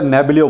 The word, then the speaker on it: Neblio: तो ये NEBL token है, इसको एक तरह से नेबलियो बोलते हैं, NEBLIO इसकी स्पेलिंग है, नेबलियो। इसको शॉर्ट में इन्होंने जो लिखा हुआ हो NEBL लिखा है।